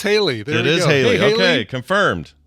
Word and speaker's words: Hayley: I'm sure we're not the first people ever to wonder how to pronounce it. Oh, I guarantee it. We got Oh, she's in the chat, and it's Haley.